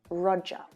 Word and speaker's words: Roger: that roger roger but standard british english and australian english we don't pronounce that sound roger roger so this